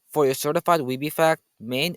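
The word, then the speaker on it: Maine: your certified weeb fact main is the only US state that has one syllable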